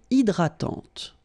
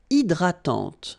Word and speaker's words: hydratante: Une crème hydratante. So remember, H is not existing, and then this Y is pronounced like I.